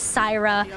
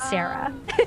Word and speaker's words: Syra: It is Syra, not Sarah.